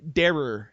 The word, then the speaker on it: Derer: oh yeah no no problem either way darer though I it's hard to pronounce my name I've had it mispronounced so many times it's like darer yeah okay the uh